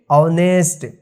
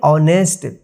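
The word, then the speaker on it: honest: यहां पर जो है एच जो है साइलेंट हो जा रहा है यानी एच का कोई उच्चारण नहीं हो रहा है तो इसको हम पढ़ेंगे ऑनेस्ट टू T double O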